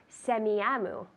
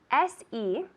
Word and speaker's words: Semiahmoo: I'd like to send a package to Semiahmoo. That's SEMIAHMOO.